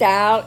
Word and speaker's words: isle: The next owl is spelled I''L-L, and it is a contraction that means I will.